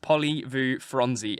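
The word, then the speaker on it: Polly-voo-franzy: podcast listeners uh it's it's spelled poly Vu and then f r a n z y when Huck says uh P Vu franzy it's just poly Vu fronzi and it's it's great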